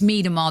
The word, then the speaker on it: Miedema: at the top um people it's me tamar the way it's pronounced by the way um it will cost